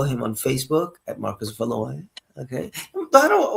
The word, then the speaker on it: Valois: Tell me, because I say Valois because I'm thinking in English. What would it be? French. It's Valois. So Valois. I imagine Valois. Mm-hmm. Okay. And how do they pronounce it here in Brazil? Do they pronounce it Valois? Veloz.